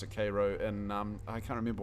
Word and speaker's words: Cairo: um it's spelled it's spelled the same as Cairo but they pronounce it Cairo in um I can't remember what state it